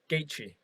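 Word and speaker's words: Gaethje: uh boxing wise uh justin gaichi justin gaichi put on a flipping amazing pocket i've always wanted to know how to pronounce his surname gagey right yeah so yeah he had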